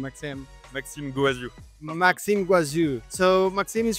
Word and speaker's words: Maxime Goaziou: with uh with Maxim Maxim how can I pronunciate your name Max Maxim guazu Maxim guazu so Maxim is from this uh